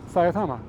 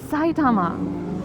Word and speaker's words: Saitama: Saiama. It's Saitama. Saiama. You say it like a Why? Satama. What? What are you talking about? Do I say it weird? Yes. It's Sai Tama.